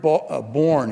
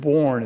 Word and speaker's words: bourne: The word born here, you may have noticed when we had it on the slide, the word born is spelled B-O-U-R-N-E.